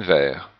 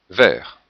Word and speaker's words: verts: Il faut manger beaucoup de légumes verts. Il faut manger beaucoup de légumes verts. Donc le thé en fait ne se prononce pas non plus au singulier et non plus au pluriel.